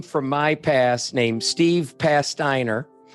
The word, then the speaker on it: Pasteiner: my past named Steve Pasteiner. Rhymes with, how do we remember your name? Cast iron. Pasteiner.